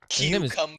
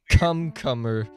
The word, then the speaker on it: cucumber: It's cucumber, not cumcumber, whatever the hell you said.